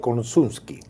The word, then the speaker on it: Korsunsky: Está con nosotros el doctor Konczynski. ¿Está bien pronunciado?